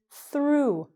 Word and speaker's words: through: Okay, I went thrugaha the tunnel, and I'm here to tell you, hey, all you have to do is pronounce it like the past tense of throw, which is through.